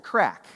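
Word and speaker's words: craic: is it different well they call it the crack c r a i c I did check that pronunciation multiple times right they call it the crack right which is this cultural value of when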